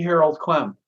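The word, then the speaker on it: Harold Klemp: And could you pronounce this teacher's name again, please? It's Sri Harold Clem.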